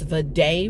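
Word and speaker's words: Vaddey: way the audio book they pronounce the author as V Day Ratner I've been saying vty Ratner for years so yeah um but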